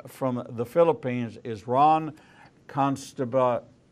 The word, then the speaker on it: Costabile: the Underworld live from the Philippines, is Ronn Costabile. Say it for me. Costabile. Costabile, but it's spelled.